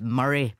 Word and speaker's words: Moray: It's pronounced Murray, PM.